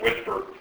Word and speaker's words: WSPR: Then there's this funny mode called Whisper, WSPR, pronounced Whisper, which is sort of a quasi-beacon mode.